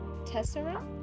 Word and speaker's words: tessera: It's pronounced tessera. Tessera. Okay, so this is like a ra.